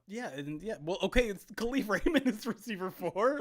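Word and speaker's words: Kalif: four now so yeah and yeah well okay khif Raymond is receiver four like ap's telling me I'm pronouncing khif wrong I love this this is good it's khif kif um yeah okay so so Osborne is is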